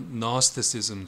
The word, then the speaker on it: Gnosticism: 이 영지주의는 이제 영어로 Gnosticism, G를 발음하지 않습니다라고 하는데, 이것에 관해서 이제 오른쪽